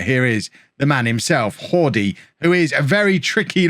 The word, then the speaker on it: Jordi: Jordi, I mean, I'm not going to call him Hordy. I'll just never remember. It's got to be Jordi or Yordi. Take your pick. Which mispronunciation do you want?